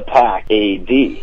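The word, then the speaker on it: The Pack A.D.: is uh pack A.D spelled like it sounds exactly how it sounds all right Like the Wolf Pack you know right and then anno domini that's after Christ that's it the after Christ perfect and they just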